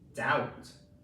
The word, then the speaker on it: doubt: Okay, next one we have with this silent letter is doubt. Duh ow t doubt. Duh owt doubt. I doubt that this letter makes a sound.